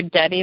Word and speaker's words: Debe: they're searching for you, they're searching for Debbie, which is spelled D as in David, E, B as in boy, E.